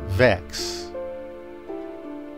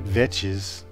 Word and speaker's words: Vechs: Lake sounds really good Vex is also how to pronounce Vex not vetes or Vicks or vites crazy YouTube people